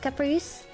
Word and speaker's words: Caprice: It's pronounced Caprice.